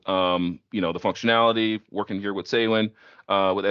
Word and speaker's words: SAWIN: of talk through, the functionality, working here with SAWIN, with SAWin.